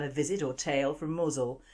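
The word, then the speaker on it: Mousehole: visit or tail from muzzle that's how it's pronounced but the spelling looks like mouse hole in 1595 a fleet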